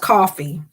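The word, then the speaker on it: Ko-fi: Yes, I think it's pronounced coffee. But yes, that's how it's spelled. They just spell it like that.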